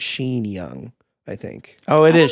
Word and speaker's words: Sean Young: The lady who plays Rachel, her name looks like it's pronounced Sean, but it's Sean. I'm sure it's Sheen Young. I think. Oh, it is Sean Young.